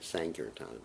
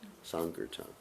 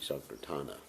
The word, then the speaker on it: Sankirtana: So most devotees don't pronounce that word properly. They say Sankirtan. It's Sankirtan. You hear the little bit of difference. Actually, Sankirtana. Anyway.